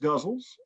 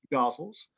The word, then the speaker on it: ghazal: popularized by roomie now there are numerous ways to pronounce that this uh this form uh and i say this because i have read these poems and have always had someone come up to me and correct my pronunciation after the reading so uh they can be pronounced guzzles gossels gazelles i always go with